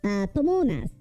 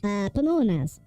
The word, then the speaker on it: Pamonha: Okay, so what we're actually going to be doing are Pamonhas. I hope I'm the, okay, no, I pronounced the word like Panama several times over. Pamonhas.